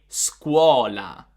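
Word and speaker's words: scuola: sound in this case the s-c-u-o is pronounced as a sort of s plus q so we're saying squala squala this is not a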